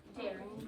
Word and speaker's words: Darien: That's how you pronounce that. Darien. Sounds like makes me think of berry. Like berry.